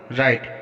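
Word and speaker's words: write: For example राइट, यहाँ डब्ल्यू के बाद आर आया है तो यहाँ पर डब्ल्यू का उच्चारण नहीं किया जाएगा, इसको राइट पढ़ेंगे।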